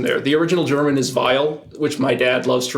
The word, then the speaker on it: Weil: It's W-E-I-L. Okay. And the original German would be Weil. I thought there was an R in there. Yeah. No, there's no R's in there. The original German is Weil, which my dad loves